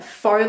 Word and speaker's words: faux: And then I have the NYX Faux Lashes. This is so funny because when I first bought this, I pronounced it as Fox Lashes or something like that. But I know it's faux.